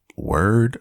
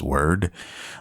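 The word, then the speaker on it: Wyrd: it's called Web of word or weird I can't pronounce it's w-y-r-d okay I'm guessing it's it's word okay and it's a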